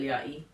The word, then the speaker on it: Yachty: was support and little yachty. Yachty, yachty. Yachty. It yacht." Like a yacht, but I know, but it's the Y at the end that throws me off by how to pronounce it.